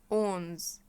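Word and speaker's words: onze: ل 11 11 يعني اونز اونز اسمه ايه اونز اونز بتضم بقك كده مابقولش اونز ما بقولش كده اسمه اونز طب رقم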